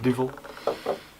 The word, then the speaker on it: Duvel: Like you pronounce it Duvel, we pronounce it Duvel.